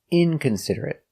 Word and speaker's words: inconsiderate: T inconsiderate inconsiderate inconsiderate five syllables inconsiderate stress on the first syllable and third syllable inconsiderate inconsiderate he is